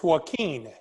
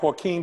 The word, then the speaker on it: Joaquin: is it is it it's joaquin you know like joaquin phoenix yes oh yeah okay